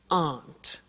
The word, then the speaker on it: aren't: they aren't cheap so the difficulty here is the pronunciation of are not which is aunt okay art good so